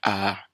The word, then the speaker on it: æ: describe this sound but a is like the a in your words at an angry attack gør that angry attack æ æ the letter ø